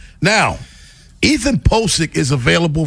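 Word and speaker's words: Pocic: Now, Ethan Pickik is available right now for the Baltimore Ravens. That is how you pronounce his name.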